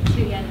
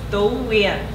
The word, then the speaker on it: Tu-Uyen: But I will pronounce it in this anglicized way. Tu-Uyen. You say it beautifully. But if you want to say in Vietnamese, it's Tu-Uyen.